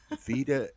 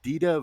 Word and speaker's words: Dita: and saw uh and i am going to mispronounce her name vida vida no it's dita von d yes uh i got to see